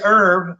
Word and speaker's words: herb: I think is that the plant is herb the silent age and a name herb with it with it is pronounced there with age and herbs herbs herbs